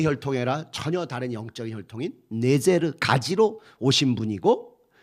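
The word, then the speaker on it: נצר: 이런 예언이 이사야서 11장 1절에서 그래서 그 가지라는 단어가 히브리 말로 네제르입니다. 네제르. 이게 나자렛하고 발음이 똑같아요. 그래서 아마도이 구절을 염두해 두고 다윗이 딱 그 윗의 집안에 대한 구절이니까이 구절을 염두해 두고 나사렛 사람이라 나지리 네제르 사람이라 이렇게 일컬음 받게 될 것이다.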